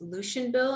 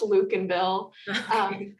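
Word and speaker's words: Lukenbill: introduction yeah hi um valiant effort on my last name it's pronounced luke and bill but yeah my name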